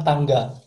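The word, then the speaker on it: 汤: Di bahasa Jepang cara bacanya kaidan. Kaidan. Artinya tangga.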